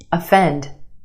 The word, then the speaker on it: offend: Another example, O-F-F, off, off. Put it in this word and it becomes offend, offend.